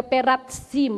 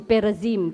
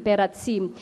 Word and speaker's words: Perazim: Pero Peratsim, ang mamaya explain natin ang pagka-pronounce, hindi Perazim, Peratsim.